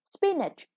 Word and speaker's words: spinach: second syllable stressed the next one spinach a kind of vegetables the first syllable is stressed okay and this is